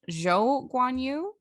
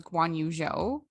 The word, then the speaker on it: Zhou Guanyu: of incorrectly, but it's Zhou Guanyu versus Guanyu Zhou. And it's just because in Chinese culture, you can like, the order is different. So everyone's going with Zhou Guanyu.